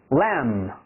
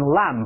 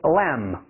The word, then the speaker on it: lamb: the butchers， chicken， chicken， either， either， husband， husband， lamb。记住是 B 不发音，千万不要读成 lamb，你怎么把肉读成 lamb 了，对不对？